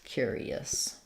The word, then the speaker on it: curious: the U cure ER so I would spell it like this build it from your to cure cure e us curious um the dictionary will show you that it has the gliding yeah and they will either show an ER or an Ur cure plus an e and a schwa curious um I hope that